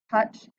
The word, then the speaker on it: touch: Just like in the word touch, we have the which is a short U sound, but we have OU together.